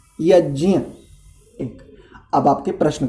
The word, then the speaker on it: यज्ञ: देखिए, इसका जो आपने शब्द का उच्चारण किया, इसको शुद्ध बोलते यज्ञ, अनुनासिक वचन है यहाँ पर, यज्ञ।